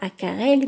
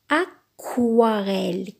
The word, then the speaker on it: aquarelle: une aquarelle aquarelle regardez c'est pas à Karelle mais aquarelle quoi aquarelle mais prononciation